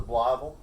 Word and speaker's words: Blytheville: like town was called blytheville okay oh they pronounced the bloble okay libel arkansas that's